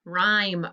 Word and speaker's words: rhyme: silent letter the w rh rhyme er what's the silent letter the h very good gn what's